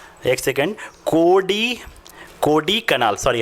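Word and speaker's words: कोडाइकनाल: और कोडकनई कनाल, एक सेकेंड, कोडी कनाल, सॉरी हाँ स्टूडेंट, अब एग्जैक्ट इसका प्रोनाउंसिएशन है मेरे पास।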